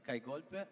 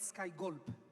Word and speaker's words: Kai Golpe: Hi everyone, this is Kai Golpe, Yeah, not Sky Gulp.